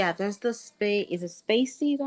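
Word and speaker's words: spaCy: Is it Spacey?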